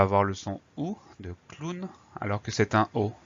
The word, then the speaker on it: clown: dernier c'est le mot clown alors là c'est un mot qui vient de l'anglais ça explique pourquoi on prononce clown alors ça s'écrit clown